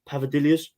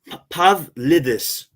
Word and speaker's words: Pavlidis: I'd rather go, Pavadivoulis from AZ, Pavadilius, the Greek guy. AZ. No, I don't know him. He plays what? Elliot help you with that. Elliot help you with the pronunciation of that one. Wait, I've got him here. Pavlidis.